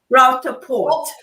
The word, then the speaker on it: Rauter-Porte: I am joined by Monika Rauter-Porte. Is that how it's pronounced, Monika? Rauter-Porte.